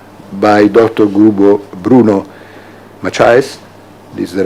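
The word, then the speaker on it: Bruno Maçães: Bruno Macias, this is the right pronunciation, Senior Advisor of Flint Global.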